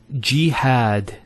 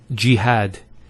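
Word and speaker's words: جهاد: word is jihad so we have here G that's the first syllable and then had jihad so you notice here we have a Fatah on the ha followed by the Aleph and that gives the elongation of the a sound next word Ibrahim so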